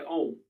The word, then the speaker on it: om: Try om, pronounced like the O in home.